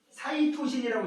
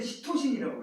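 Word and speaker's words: cytosine: 선생님 때는 여기 오늘 우리 한 것 중에도 사이토신이라고 있었지. C 염기 중에 우리 때는 시토신이라고 배웠어. 발음상의 차이지 뭐.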